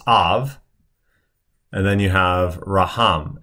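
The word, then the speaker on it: אב: Now you don't pronounce this shva because it's following a short patak. So it's av.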